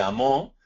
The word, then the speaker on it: amó: que se lo indiquemos, entre amó, es decir, con acento en la O, y amo.